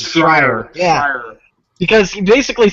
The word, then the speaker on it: Schreier: I don't know how to pronounce it. Schreier.